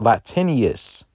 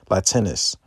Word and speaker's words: Latinus: Latinius. Or not Latinus. Excuse me, I said it wrong. Latinus.